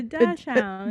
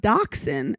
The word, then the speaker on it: dachshund: this girl bought a dash hound. Got adopted a dash hound before it was trendy. The comments were like, you dumb bitch. It's pronounced dachshund.